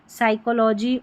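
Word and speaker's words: psychology: 36 पर है पीएस। इसको स पढ़ेंगे। पी साइलेंट है। जैसे साइकोलॉजी और सूडो।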